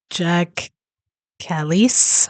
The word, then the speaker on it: Jacques Kallis: And this one is uh from Cricut Stories and it's just how great was uh Jack Callis I think is how you say it.